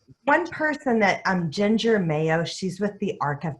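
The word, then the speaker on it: Mayeaux: able to answer one person that um Ginger Mayo she's with The Arc of Texas and it's ma ye auu X but it's pronounced Mayo um she is like a community Le person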